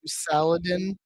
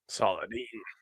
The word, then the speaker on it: Saladin: All I can think is like salad in salad. That's how I kept having to say his name in my head when I was typing it, because you know I am phonetically, and it's one letter off from paladin, so that helped too.